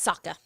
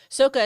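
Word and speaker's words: Sokka: important to his development oh and it's Saka Saka yeah sooka is how ight shamalan produced it pronounced it it was and he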